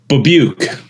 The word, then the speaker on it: Babiuk: it is how is your last name best pronounced babuk B I told you guys yeah don't worry